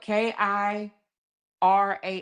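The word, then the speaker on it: Kirah: It's spelled K I R A H.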